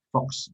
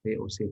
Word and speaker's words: VOC: VOC itu jangan membacanya dengan Fox. Fox itu berarti nama permen. Saya pernah ada siswa saya membaca masa kekuasaan Fox. Salah ya, yang benar adalah VOC, dibaca VOC bukan Fox.